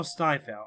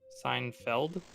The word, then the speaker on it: Seinfeld: If you you know Steinfeld, I'm pronouncing it wrong, but you know what I'm talking about, right? I actually am not Seinfeld. sure. Seinfeld?